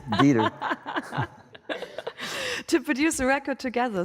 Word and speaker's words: Dieter: I would imagine you would pronounce that right. It's Dieter.